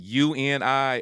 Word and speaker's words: UNI: So tell me about how come I did not know now, and now is it UNI or uni? How do you say it? Yeah, you and I.